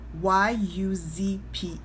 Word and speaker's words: Yuzpe: It's Yuzpe.